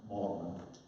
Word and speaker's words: Magdalen: That's actually spelled Magdalen, but the knowledgeable people, it's pronounced Magdalen. Interestingly, the same college at Cambridge is pronounced Magdalen, so whatever.